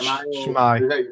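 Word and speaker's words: S'mae: Shmai. Welsh. Basically like, hey. Ah, Right. Shmai. Yeah. How do you pronounce it again?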